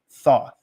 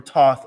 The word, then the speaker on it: Thoth: the Emerald Tablet of Thoth or Toth as some pronounce it right give me